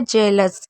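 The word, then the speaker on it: jealous: कुछ शब्दों में ई ए का उच्चारण ए भी होता है, आ भी होता है। जैसे मैं आपको कुछ एग्जाम्पल दिखा देती हूँ। जैसे हमने इसे पढ़ा जेलस, किसी से जलन करना, ईर्ष्या करना जेलस कहलाता है।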